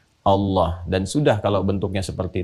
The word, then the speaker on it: Allah: A lagi, kemudian H, dibacanya tetap mengembalikan kepada diksi aslinya, tulisan aslinya dalam bahasa Arab, yaitu Allah. Ingat ya, Allah.